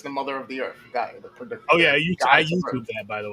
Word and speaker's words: Gaia: Or whatever how you pronounce it. It's Gaia. But yeah, okay. It's the mother of the earth, Gaia.